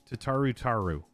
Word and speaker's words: Tataru Taru: Tataru Taru. Tataru Taru. Second part is said like the first part. Oh, I keep mispronouncing it. Language, young man. My bad. My bad. Tataru Taru.